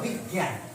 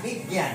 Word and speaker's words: বিজ্ঞান: বিজ্ঞান ধরো বিজ্ঞান বয়সী বৈত্যয় আকার দন্তন এইটার উচ্চারণ ইয় বয় বিজ্ঞান হ্যা বিজ্ঞান বিজ্ঞান কেমন উচ্চারণ হচ্ছে বিজ্ঞান ব এর মত